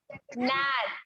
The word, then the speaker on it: gnat: नैट।